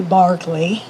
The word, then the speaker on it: Berkeley: in Berkeley Square, and it is spelled Berkeley, but in England they say Barclay.